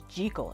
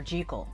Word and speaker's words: Jekyll: And I almost forgot that in the original, they pronounced his name Jekyll. It was Dr. Jekyll. And then for some reason over the years, it's now Jekyll.